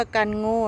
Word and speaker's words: Kangoo: กั้ง โง่ กัน หมด คน ไทย ก็ จะ เรียก ว่า กัน โง่ เนอะ ภาษา อ่าน ภาษา